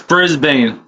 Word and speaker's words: Brisbane: That's Brisbane for you all Americans out there.